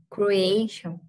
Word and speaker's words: creation: right excellent and there's an example where the vowels are pronounced separately so it's creation excellent okay so the EA are pronounced differently and but the i o are pronounced almost together so you did it